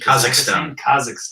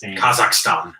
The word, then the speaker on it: Kazakhstan: Is that how you pronounce it? Kazakhstan. Kazakhstan.